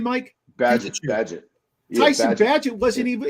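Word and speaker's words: Bagent: Tyson how do you say last name Mike badget badget tyon badget wasn't even he was a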